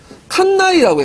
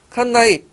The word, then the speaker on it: 칸나이: 칸네 전투 이게 영어식 발음이고 보통 칸나이라고 해. 칸나이. 라틴 발음은 칸나이.